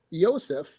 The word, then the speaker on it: Yosef: So Yosef is actually a Slavic pronunciation of Joseph.